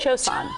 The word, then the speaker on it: Cio-Cio-San: Cio-Cio-San.